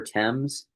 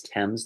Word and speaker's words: Thames: When you see the River Thames, by the way, it's Thames, not Thames. It's spelled Thames, but it's pronounced Thames.